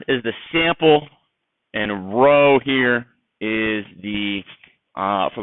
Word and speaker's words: rho: alphabet starts with r you do it in a boat row okay but it's not spelled out it's spelled rho okay um so lowercase r is the sample and a row here is the uh